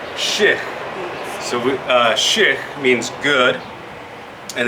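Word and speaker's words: shix̲: Where I'm from, we would say it like this. S-H-I, and then an X with an underline. That would be shich.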